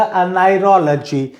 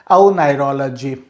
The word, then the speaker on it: oneirology: तो अब ब्रैकेट को छोड़ करके बोलेंगे तो हो जाएगा अनाइरोलॉजी, अनाइरोलॉजी। एंड ब्रैकेट साउंड को लेकर के बोलेंगे तो इसका प्रोनाउंसिएशन हो जाएगा औनाइरोलॉजी, औनाइरोलॉजी, औनाइरोलॉजी एंड अनाइरोलॉजी, अनाइरोलॉजी।